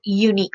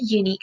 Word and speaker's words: unique: was at you painting now this word starts with you sound it's not a leak its unique so it has a year sound to it word unique has a year son and we know that year is a consonant so that's why we